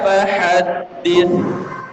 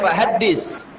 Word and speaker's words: فحدث: Wa amma bi ni'mati rabbika fahaddith. Bi ni'mati rabbika fahaddith. Fahaddith itu berbeda dengan fahaddis. Kalau fahaddis itu sin. Ini bacanya tha. Setelah ta itu ujung lidah kita keluarkan. Fahaddith, dir. Bukan fahaddis. Lisin, ya.